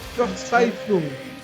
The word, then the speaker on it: Verzweiflung: Yeah, that's Verzweiflung.